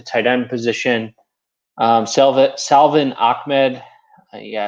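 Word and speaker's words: Salvon Ahmed: plays at the tight end position um selva salvin ahmed yeah it's actually pronounced that way um is out and i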